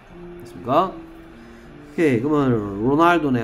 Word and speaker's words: Ronaldo: 얘를 호날두라고 읽기도 합니다. 얘가 H 발음으로 하는 동네도 있어요. R을 H처럼 발음하는 동네도 있어요. 그러니까 그렇죠. Portuguese죠. 포르투갈 발음으로는 R이 H입니다. 그래서 얘를 호날두라고 읽어요.